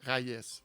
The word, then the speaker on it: Rayes: Mais moi, la vraie prononciation, le meilleur truc que j'ai trouvé, des rails de chemin de fer, rail, Rai. S, rail S. Reyes.